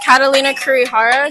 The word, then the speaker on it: Catalina Kurihara: To start off with, can you tell us your first and last name and then how you spell it? Yeah. My name is Catalina Kurihara.